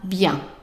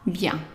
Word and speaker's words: bientôt: it on your own, knowing that A with an accent is pronounced A. And by the way, whether it has an accent or not, it's always A. So that means that the first part here is right, A. And then let's go to the next part. So the I-E-N pronounced yan, yan. So let's pronounce these two pieces here. Try them. Right. Ah, bien. Ah, bien.